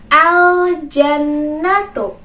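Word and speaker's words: الجنة: Alif Lam Qomariah maka kita harus bacanya dengan jelas berarti teman-teman harus membacanya dengan jelas pula bagaimana bacanya tadi aljannatu pnah doakan diikuti teman-teman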